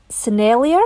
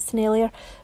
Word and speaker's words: Sennelier: paint that i'm applying it's actually sennelier i think that's how you pronounce it scenario which do a very